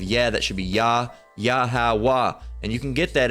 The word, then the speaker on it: Yahweh: All right, but again, you don't add that ha. It's just the H that's the signifying stopping point. Yahweh, right?